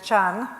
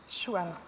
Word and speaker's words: Xuan: Our next speaker is Chan. Do I pronounce that correctly? Xuan.